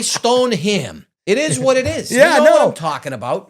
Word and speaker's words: Stoneham: I did a video there and I said Stonium. People were ripping me up over it. He must not be from around here. He's from Rhode Island. He's from here. He's I could say it however the hell I want to say it. All right. I say stone him.